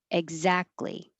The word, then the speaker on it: exactly: It really is ek with a K, but because your voice is on before it with the vowel e and after it with the Z, it changes to a G most casually, egg.